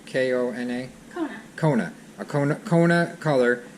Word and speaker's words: Kona: K-O-N-A?